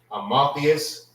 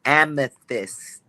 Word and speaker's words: amethyst: Is it Amotheus? Salakia, sir. It's amethyst.